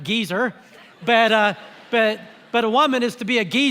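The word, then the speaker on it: עֵזֶר: The Hebrew word translated helper is gezer, more fun to pronounce it geezer, but a woman is to be a geezer to a man, and vice versa.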